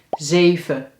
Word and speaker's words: zeven: De eerste is een e, de tweede is een e. 7. Maar eigenlijk, en dat gaan we straks zien, spreek je dit woord zelfs uit als 7 en slik je de n in.